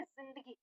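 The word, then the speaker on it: ज़िंदगी: अब देखो यहां पर जो सही उच्चारण होता है इसका यानी जो हम कहें कि अरबी फारसी ध्वनि में जो है तो वो है ये जिंदगी।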